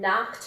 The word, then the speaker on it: knocked: He ran into a lady coming out of the clothing store and knocked her boxes into his fruit stand. Whoops. Knocked. Knocked, knocked, knocked. It's another one in the T category.